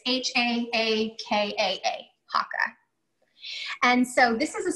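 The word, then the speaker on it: Haakaa: It's H-A-A-K-A-A, Hakka.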